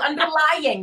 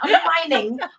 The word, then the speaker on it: underlying: Let's say it correctly. Underlying, not underlining.